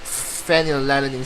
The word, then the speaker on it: phenylalanine: Actually, this is not as weird, because if you pronounce phenylalanine, it's like phenylalanine. So it's like you start off with the letter F.